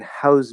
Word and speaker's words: house: you say oh okay it's a z sound if it's a verb or maybe you hear